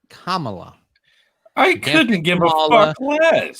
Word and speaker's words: Kamala: i see she you have to say her name correctly it's kamala i couldn't give her